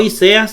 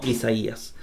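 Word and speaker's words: Ἠσαΐας: diéresis se pronuncia alfa la y está como y la alfa como a y ahí dice isaías no y seas sino isaías por la diéresis pasamos a la otra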